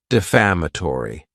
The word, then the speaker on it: defamatory: the word defamatory and this word has five syllables and the stress is on that second syllable defamatory it's not a good adjective because